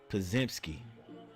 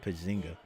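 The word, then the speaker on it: Podziemski: Pazki. Pazimski. Pazimski. All right. Pazimski. Not Pzinga.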